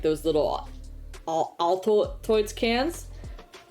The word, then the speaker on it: Altoids: in like those little Altoids cans. That's not how it's pronounced. Altoids, yeah, it is.